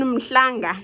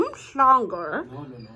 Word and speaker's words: Umhlanga: You're not in Umhlanga. You're not in Umhlanga. You're in Umhlanga.